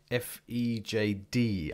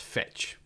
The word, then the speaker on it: Fejd: So that name is obviously in a different language, but I believe it's pronounced Fejd. Let's just call it Fejd anyway.